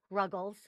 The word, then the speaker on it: Ruggles: which is ruggles rhymes with snuggles smelled like snuggles dot